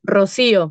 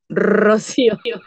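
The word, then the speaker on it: Rocío: that's my nickname but my real name is Rosio it's a Rosio very Spanish very AR I try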